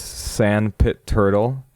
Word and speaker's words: SXNDPT TXRL: Even though you know if you look at the actual name you you get a bunch of X's in your way there. This is uh Sand Pit Turtle with Yearn for the Earn.